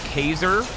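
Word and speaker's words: Kaser: His name is Kazer. Spelled like laser, I suppose, but with a K.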